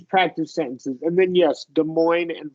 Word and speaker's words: Des Moines: And then, yes, Des Moines and Freud, you pronounced perfectly.